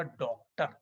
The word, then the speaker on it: डॉक्टर: चंद्र लगेगा अर्ध चंद्र और इसका उच्चारण होगा डॉक्टर ओ की तरह ध्वनि आएगी डॉक्टर ऑफिस डॉन तो इसको भी ध्यान